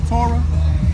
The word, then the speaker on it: Torah: properly pronounced the Torah.